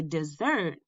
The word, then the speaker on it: dessert: end to a dinner the two words sound different because you put the emphasis or stress on a different syllable in each of these two syllable words if we wanted to